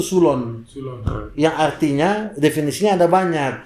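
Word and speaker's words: ξύλον: eh suloh bahasa ee bahasa Yunani bahasa asli D kata DP ejaan fonetik itu sulon sulon yang artinya definisinya ada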